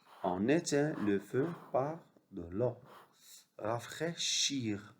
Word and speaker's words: rafraîchir: Rafraîchir, AI se prononce et IR à la fin se prononce. C'est pas une lettre muette. Rafraîchir, comme finir, choisir.